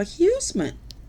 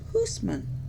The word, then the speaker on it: Huisman: them grandma and grandpa huesemann which my grandpa did not mind he did not mind us calling him huesemann but his last name was actually pronounced Huisman um and then one